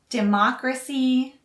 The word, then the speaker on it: democracy: The next three words are also related: democracy, Democrat, and democratic. Again, the stress is on the first syllable for Democrat and democratic, and the stress is on the second syllable for democracy.